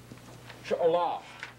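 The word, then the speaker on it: שְׁאוֹלָה: We could leave out the preposition and attach to the end of the word an unaccented syllable ah. She'olah, She'olah, I should say. This is unaccented.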